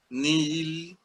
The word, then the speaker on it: nihil: Por ejemplo, nihil, N, I, H, I, L, nihil. En latín se lee nihil, ¿verdad? Entonces, cuando pasa al griego, en el latín, perdón, se pronunciaba la H, se aspiraba también.